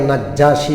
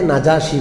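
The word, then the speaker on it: النجاشي: নাজ্জাসী বাদশা কি নাম আমরা বাংলায় নাজ্জাসী বলি আরবিতে নাজাসী বলে নাজ্জাসী বলে না আরবিতে আরবি শব্দটা কি নাজাসী বাদশা তো বাংলায় যেহেতু নাজ্জাসী খুব প্রসিদ্ধ সেই হিসেবে আমি বাংলাটা উচ্চারণ করি না হলে আপনারা বুঝতেই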